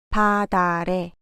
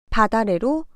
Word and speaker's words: 밭아래: 바다래, 바다래로 발음하면 됩니다.